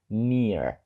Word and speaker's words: near: воно означає просто близько Але цікаво Там те що там є літера і та Ей посередині і читається воно просто як довга і near так ось ці дві літери роблять довгий звук і так само як